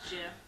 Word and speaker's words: GIF: It's pronounced Jiff. GIF? It's pronounced Jeff.